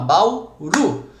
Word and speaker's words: Bauru: Qual que é a sílaba tônica de Bauru? É o Ru, não é? É a última, ela é uma oxítona, Bauru.